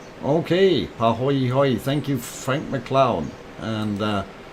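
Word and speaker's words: pāhoehoe: So pahoy hoy, pronunciation A-OK. Okay, pahoy hoy.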